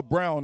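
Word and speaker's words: Braun: off their bench yeah he doesn't spell it like brown but it's pronounced Brown yeah he reminds me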